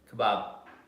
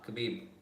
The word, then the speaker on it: Khabib: Kebab. Duh. Khabib.